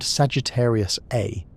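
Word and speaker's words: Sagittarius A*: The black hole at the centre of our galaxy is named Sagittarius A, pronounced A star.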